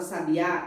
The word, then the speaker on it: sabiá: A sílaba mais forte da palavra sabiá é a última sílaba, né? Que a gente separa. Sabiá. Então, sabiá é trissílaba, que tem 3 sílabas. E a última sílaba é a mais forte, o A.